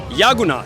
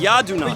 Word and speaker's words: Yadunath: You are Yadunath. Yagunath. Yadunath. But Yadunath. you can call me Yadu. Yadu. Rhymes with Yahoo.